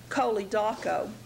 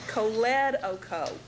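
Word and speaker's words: choledocho: So you would think of it as being pronounced coli doco. Excuse me. However, because of where the emphasis is placed, it is actually going to be pronounced coledoco. Coledoco. So when you're working with coli and doco, putting them together, think of pronouncing it coledoco.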